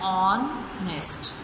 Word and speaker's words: honest: H is silent in these words, so our is pronounced an owl, and honest is pronounced as honest.